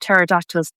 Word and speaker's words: pterodactyls: I really want to know more about pterodactyls. Never knew it was started with a silent P.